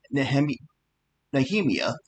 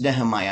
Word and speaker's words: Nehemiah: of persecution and and Nhem Nahhemia, it's Nehemiah. I'm sorry, I mispronounced that."